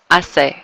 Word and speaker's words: hace: We're just dropping that H sound. Hace.